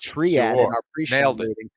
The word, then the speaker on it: Triad: thoughts on triad combat am i pronouncing that right ken flow yes triad like triage triad combat platinum mike